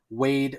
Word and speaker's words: Waid: I love the fact that Jeremy Adams named him Waid, and it's spelled in the traditional way that you would spell the first name Wade for a boy, W-A-D-E.